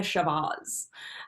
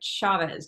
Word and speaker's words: Chavez: pronounce her name and i was like chavez just like cheese or cha-cha it's very simple you